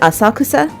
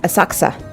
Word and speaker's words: Asakusa: success they mispronounced this in this game they pronounce it asakusa Asakusa in this game no one says that it's a success a merchant town based Sensoji temple famous for